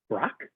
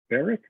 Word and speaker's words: Barack: Brock? No. Barack Obama. He's running for state senator. Barack?